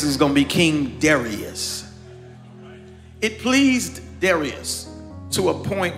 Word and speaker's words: Darius: Now, there are some scholarly theologians who pronounce this Darius. But for our colloquial understanding, I'm just going to say Darius.